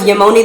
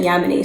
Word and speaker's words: Ya'moni: be reviewing yemeni essentials i totally thought it was yemoni this whole time but i found a video on youtube from the owner and she calls it yamini so now i will too this is going to